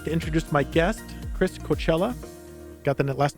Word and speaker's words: Cochella: today I'd like to introduce my guest Chris Coachella got the last name right yes okay good